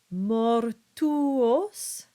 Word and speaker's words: mortuos: The basic rule of thumb is that you keep the original sound of each vowel. So for instance, you get meam, mei, mortuos, deum, and tua.